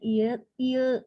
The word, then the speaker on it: ieu: Ini bukan lieu nya, ieu bacanya.